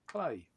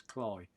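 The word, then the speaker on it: Cley: Now, most people would say Clay, but it is Cly in Norfolk.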